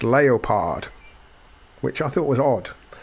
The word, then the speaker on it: Leopard: But they insisted that the team be pronounced Leopard, which I thought was odd.